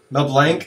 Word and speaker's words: Mel Blanc: Mel Blanc? Blanc? It's pronounced Mel Blanc.